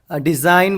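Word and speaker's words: design: Next क्या है अपने को, हाँ डिज़ाइन बोल रहे अपन, डिज़ाइन बोल रहे अपन, यहाँ पे क्या आ जा रहा आपको, G साइलेंट हो जा रहा।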